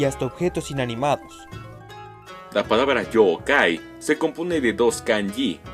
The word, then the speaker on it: Yōkai: los seres que engloba cabe puntualizar que yokai se pronuncia como si tuviese dos o debido a que pronunciaciones como joe kay no se consideran correctas el origen de esa forma de decirlo se cree que surgió como un malentendido de pronunciación a la hora de trasladar el término al inglés sus intenciones al igual